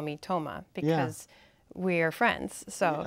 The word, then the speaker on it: Tamara: name for example um so my name Tamara is uh not the name that my family and closest friends call me they call me Tomah okay and so I had Americanized the pronunciation of my first name and dropped my last